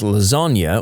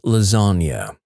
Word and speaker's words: lasagna: To which I reply, "It's pronounced lasagna.